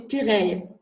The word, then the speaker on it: Puraye: thank you so much my last name is puree got it see this